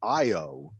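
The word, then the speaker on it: Ayo: And he meets up with, I believe it's pronounced Io, right?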